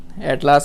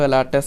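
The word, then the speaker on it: Alatas: जैसे Syed एटलास, Syed एलाटस नॉट एटलास, सो ऐसे याद रहेगा एटलास से। तो एटलास ने क्या बोला था, एटलास नहीं है वैसे तो एलाटस है, just try to understand एटलास।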